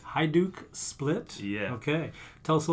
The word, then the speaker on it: Hajduk Split: I might need your help again on the pronunciation, but you are a big supporter of the Croatian soccer club. Hajduk Split. Hajduk Split?